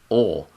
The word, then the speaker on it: Oail: It makes no sense how it's written. I'm gonna go OLE. It's OAIL. And it's pronounced Ole.